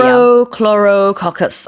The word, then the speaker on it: Prochlorococcus: But I was just laughing at how cute you were trying to pronounce Prochlorococcus Oh, that's how you say it in English. is the name of the bacteria. Prochlorococcus.